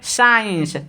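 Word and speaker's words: science: जैसे SCIENC, तो इसको क्या प्रोनाउंसिएशन करेंगे यानी उच्चारण क्या बोलेंगे, साइंस, साइंस।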